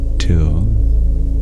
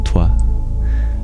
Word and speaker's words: two: But nowadays we don't pronounce the W in two. We don't say Twa.